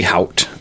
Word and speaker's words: Haught: It might be Hout. H-A-U-G-H-T. Hout. Okay. I think it's hot, though. Like haughty. Like a hawk.